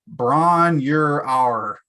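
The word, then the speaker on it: Bron-Yr-Aur: I don't know if I'm pronouncing this right. Bron, you're our.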